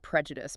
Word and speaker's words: prejudice: The stress is on the first syllable, and that I at the end is a short I sound, not a long I sound.